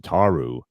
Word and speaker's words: Ataru: Ataru. That's Ataru. so Thank that you.